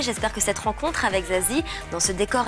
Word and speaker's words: Zazie: Ça se prononce pas, ça s'écoute, j'ai envie de dire, mais c'est Zazie.